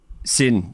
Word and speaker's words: SYN: You worked as a reporter for, is it pronounced Sin or SYN? Sin.